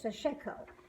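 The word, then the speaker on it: Sashiko: you read damn it it's pronounced like such Sachiko it's a Japanese stitching and I think that's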